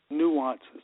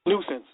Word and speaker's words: nuisance: to prevent and remove nuances, or how would you say it? nuance, or I know I'm not pronouncing it right. Nuisance.